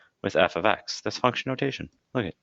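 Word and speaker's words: f(x): talking about something like f ofx now this is not pronounced fx please don't say fx it's f ofx meaning the function dependent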